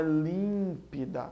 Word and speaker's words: límpida: eu vou assento Alá límpida é proparoxítona a antepenúltima sílaba é a tônica então é límpida né outra lá atrás